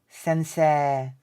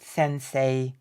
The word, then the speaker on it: sensei: Judo not Judo Judo you pronounce the e as long sensei you can't even